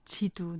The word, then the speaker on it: 基督: 근데 1949년 공산화 이후에 북경 관화 발음을 표준 발음으로 쓰는 바람에 지금은 기도라고 하지 않고 지두라고 해요. 지두.